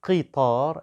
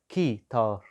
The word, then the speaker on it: قطار: Good, but the word قطار is pronounced with the letter قاف, so قطار and not كيتار.